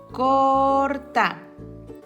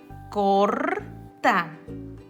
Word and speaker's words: corta: Corta. Fíjate, aquí como nada más está una vocal antes, su sonido va a ser más fuerte. María corta. María corta.